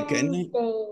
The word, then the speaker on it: Wednesday: وينز اهي، Wednesday.